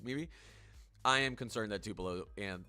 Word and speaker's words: Tupelo: Who's getting the wor uh I'm worried about a city that rhymes with uh Koopo. Do you guys know what city I'm talking about? Who could get the worst of this winter storm? Rhymes with Koopo.